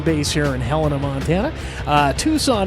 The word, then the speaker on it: Tucson: here in Helena Montana Tucson Arizona or tuckson Arizona depending on where you want to wear your pronunciation meaning get